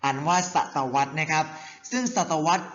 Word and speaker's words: ศตวรรษ: ศตวรรษ กัน นะ ครับ เด็ก ๆ อ่าน ว่า ศตวรรษ ใน ครับ ซึ่ง ศตวรรษ เป็น ช่วง เวลา 100